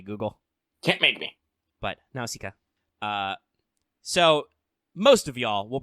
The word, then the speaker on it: Nausicaa: speaking of Greek females, Nausicaa. And it is pronounced that way in Greek. I double-checked. Technically, Google is like Nausicaa, and I'm like, I'm not saying it that way, Google.